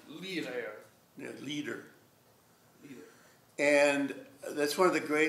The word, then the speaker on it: Lieder: You always pronounce the E in German. Lieder.